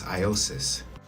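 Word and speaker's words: Ἰησοῦς: One thing that I would like to point out that in Greek, um, the way that you pronounce Jesus is Iosis.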